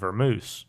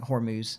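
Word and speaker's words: Hormuz: close the straight of Hermoose. Mhm. Is that that pronounced? Hermoose. Yeah. Sure. I was pronouncing that wrong. H O R M U Z I think. Hormuse. Hormuse. Okay.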